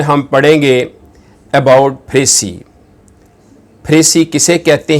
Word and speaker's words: précis: The word फ्रेसी को हम एज a noun और एज अ वर्ब यूज़ करते हैं। एज अ नाउन इसके स्पेलिंग है PRECIS और इसको प्रोनाउंस करते हैं फ्रेसी।